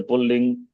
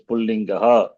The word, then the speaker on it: Pullingaha: So not Pulling, Striling, that is wrong. Okay. Those who speak Hindi speaking people, they say Pulling, Striling, it is Pullingaha, Strilingaha, Napumsakalingaha.